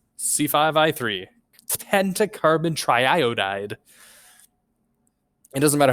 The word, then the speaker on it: triiodide: Pentacarbon triiodide. It doesn't matter how many times I say it. Triiodide never stops sounding crazy. But it is the correct way to say it. It's not triiodide, unfortunately.